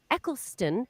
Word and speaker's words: Eccleston: guy 64 doesn't age and then uh christopher eccleston is that how i say it correctly yeah